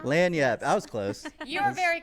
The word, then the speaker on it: Laniap: we're talking talking with the people of uh laging AE we don't care how you say it just come see us sorry it's pronounced lanap lanap I was close you very close very close